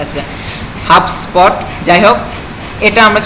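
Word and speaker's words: HubSpot: আচ্ছা, এটা হচ্ছে আমাদের এই হাবস্পট, মানে আমি হচ্ছে বি থেকে ভাগ করে তারপরে ইয়া উচ্চারণ করতেছি। আচ্ছা, হাবস্পট।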